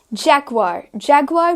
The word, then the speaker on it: Jaguar: Jaguar भी एक ऐसी कार है जिसे हम commonly mispronounced सुनते हैं, but it's as simple as Jaguar.